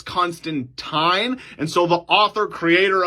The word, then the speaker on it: Constantine: thinking wait a second isn't it John Constantine no so in the comics he actually continuously reminds people how to say his name because they made the movie with Keanu Reeves and they said it Constantine but it's constant time and so the author